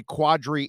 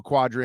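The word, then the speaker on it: Qadry: his name right you a lot of people normally say quadri ishmael that's the way they pronounce it but it's really spelled uh q-a-d-r-y and so first moment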